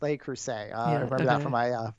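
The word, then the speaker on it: Le Creuset: am so uh so I think it's pronounced Laker say for my French class you know so uh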